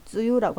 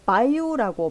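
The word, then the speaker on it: 梅雨: 단어를 쓸 때는 그냥 쯔유라고 합니다. 마다 쯔유 데스네. 그죠? 아직 장마네요. 뭐 이렇게 쓰는데 이게 유독 다르게 바이우라고 발음이 되는 때는 그 TV 뉴스, 텔레비 뉴스 일기예보에서 장마 전선이라는 단어를 쓸 때는요.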